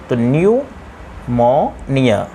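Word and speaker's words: pneumonia: Ireland है इसको पढेंगे P N-you M ओ एन आई ए new Mauniya इसको पढेंगे न्यूमोनिया की स्पेलिंग में लिखा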